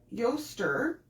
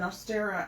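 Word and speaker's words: Eostre: invasion of england um your yoster is the name of the germanic goddess that is spelled e-o-s-t-r-e which is very close to easter and she's the goddess of spring and dawn and there's no record of an astera as a goddess so it's a butchered form of yoster some say she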